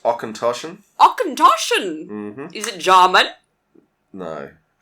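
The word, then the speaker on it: Auchentoshan: we're drinking oh god i can't say that ocean torshan okay it's pronounced ochentoshan akantoshan is it german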